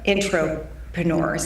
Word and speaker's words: Intropreneur: So, Jen, what influenced you to create the concept of the Intropreneurs? Am I pronouncing it correctly?